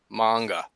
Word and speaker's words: manga: And then he says, well, the A is the important part. A is always like father, manga.